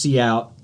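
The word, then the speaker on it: cout: uh it's pronounced see out and uh what that literally stands for is the output window.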